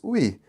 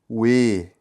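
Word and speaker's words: ㅚ: Só que a pronúncia disso aqui, por algum motivo no coreano, é de we. Então você vai falar we. Tá bom, galera? Então vocês não vão ler como o i, né? Oi. Vocês não vão ler oi.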